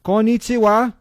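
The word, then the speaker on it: こんにちは: Konnichiwa, is that how you say it?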